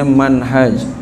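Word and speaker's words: منهج: Nah, kalau enggak ada alif, enggak ada alif bacanya manhaj. Kalau ada alif minhaj ini.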